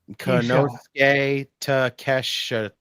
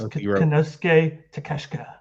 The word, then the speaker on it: Konosuke Takeshita: Konosuke Takesha. It's Konosuke Takeshita.